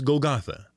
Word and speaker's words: Golgotha: jerusalem's gates that was known in aramaic as place of the skull or gagalta in hebrew it was called gogolet the greek pronunciation is golgotha and why all the